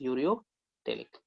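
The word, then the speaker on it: ureotelic: Fine, that is pronounce as यूरियोटेलिक।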